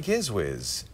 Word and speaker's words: Gizwiz: It'll be, that's almost embarrassing to say, the Daily Gizwiz show. What's the daily? Oh, it's Gizwiz. The Giz, yes, that's how you pronounce it.